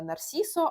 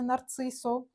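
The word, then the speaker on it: Narciso: кубик від нарсіса Родрігеса мені казали і я вірю що вірно вимовляти саме нарсисо а не нарцисо це аромат амбрі як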